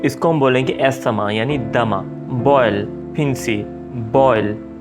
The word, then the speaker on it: asthma: Asthma, dama. So few people pronounce it like asthma या asthma. So ये एक तरह से गलत है, क्योंकि इंग्लिश में जो TH होता है उसको भी हल्का सा S वाला साउंड देते हैं, asthma, right?